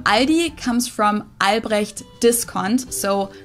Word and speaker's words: Aldi: people say Aldi or they also sometimes add an s that isn't there in the end and say Aldi in Germany we just say Ali it has its origins